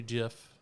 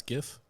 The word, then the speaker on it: Jif: the the extra country gif is the way to go if possible does it pronounce gif no gif it's j-i-f oh yep mom's like